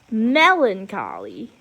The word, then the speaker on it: melancholy: divided by syllable and the emphasis is on the first syllable so it would be melancholy like how I'm punching